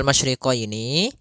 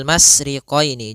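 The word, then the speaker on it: مَشْرِقَيْنِ: masriq pada lafal masyriqini maka di sini ada huruf syin maka kita harus membacanya dengan adanya sifat tafasyi Apa itu tafasyi tafasyi adalah salah satu sifat yang terkandung di dalam huruf syin yaitu menyebarnya suara sehingga Jangan dibaca rbul masriqini jangan dengan huruf Sin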